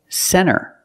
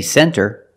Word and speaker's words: center: When you see NT, a lot of times you don't hear the T. Example, center. Of course, you can say center, it's correct, but a lot of Americans will pronounce it center.